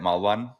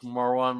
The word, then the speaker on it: Maran: by koua but uh my real name is Maran which is in fren in French easy to say but not in English that's that's why I